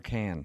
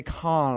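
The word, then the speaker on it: Cannes: But what's Yeah, but the pronunciation is it con or can? It's been driving me nuts my whole life and I've never been there. Yeah, it's can.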